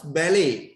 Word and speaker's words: ballet: Dance ballet. එතන ballet නෙමෙයි ballet. Last letter is a silent letter.